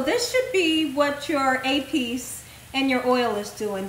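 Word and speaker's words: épis: I know some people are gonna say it's not EPIS, it's APIS. I know it's APIS, but I like to say EPIS.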